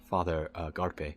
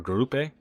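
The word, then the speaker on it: Garupe: That's interesting because you'll hear the Adam Driver character, Father Garpe, I think his name is, or Grupe, I think is how it's pronounced.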